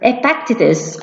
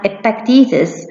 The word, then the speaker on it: Epictetus: healthy the Greek philosopher Epictetus or as some odds pronounce it as expect eases one stated that it's